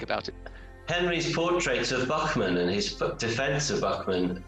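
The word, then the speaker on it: Buchman: Henry's portrait of Buckman and his defense of Buckman, is that the right pronunciation, Henry? Buckman, yeah.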